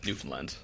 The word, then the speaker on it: Newfoundland: And then were you traveling around Canada or were you locked down in Newfoundland? Did I say it right? Yeah, Newfoundland, yeah.